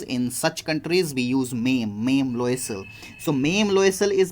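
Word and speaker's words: Mme: Student, double M-E is pronounced as Mame, and this word is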